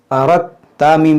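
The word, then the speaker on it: أردتم: दाल ता ज़बर रत, अरद ता मीम पेश तुम, अरदतुम। देखिए यहाँ पर ये दाल साइलेंट होगा, ये दाल की आवाज़ यहाँ पर नहीं आएगी।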